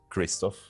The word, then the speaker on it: Krzysztof: So, I there are two versions of my name. Let's say uh the one I use most commonly when traveling abroad is Kristoff because it's just easier.